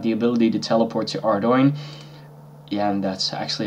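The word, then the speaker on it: Ardougne: want to have the ability to teleport to ardoin and that's actually how it's pronounced you can also load stone there but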